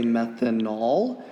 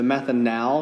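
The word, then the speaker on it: methanal: method now interesting note pronunciation really matters for this because a lot of students would say methanol which would be a different molecule which is an alcohol what we studied yesterday so the method now you really do need to pronounce that a as a short a okay so ketones are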